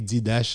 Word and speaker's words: Didache: qui est dédié Didache, il écrit Didache, il prononce Didache, qui parlait de vie apôtre.